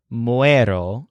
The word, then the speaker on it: muero: Morir, with the present tense, has a stress on ue. So, muero is I die, and mueren is they die.